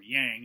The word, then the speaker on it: yang: Yin, which was dark, cold, female, negative, and yang, or yang as it's sometimes pronounced in America, light, hot, male, and positive.